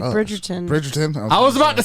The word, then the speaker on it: Bridgerton: do i do stupid yeah it is like bridgerton i was about to say say bridgeton say it right now the most recent one